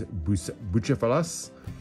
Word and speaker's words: Bucephalus: I'm probably going to butcher the pronunciation, but I believe the name is Bucephalus.